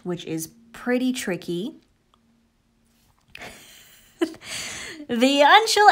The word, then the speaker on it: Uncial: If you're eating, it's pronounced Uncial.